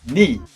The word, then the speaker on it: knee: Rodilla será knee. En esta, fíjate, hay una letra que no se pronuncia.